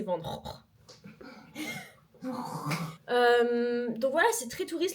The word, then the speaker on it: Van Gogh: Et Van Gogh c'est Van Gogh.